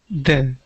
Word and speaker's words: the: time good next one the good so be careful when you're reading that you don't turn them into Z or du I was hearing a lot of du du don't be afraid to stick your tongue out of your mouth you are doing what